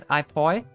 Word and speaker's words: Apoy: So supposedly this is supposed to be pronounced as Ipoi because it's not French.